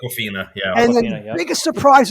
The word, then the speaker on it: Awkwafina: Am I pronouncing that correct? Awkwafina, yeah.